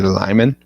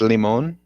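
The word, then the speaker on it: Limón: you real quick what it's not a lyman first off it's limon that's literally how it's spelled and pronunciated because it's supposed to be spanish not lyman look i grew up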